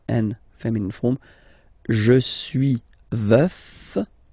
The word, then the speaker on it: veuf: Je suis veuf. Veuf, so remember to pronounce the final F.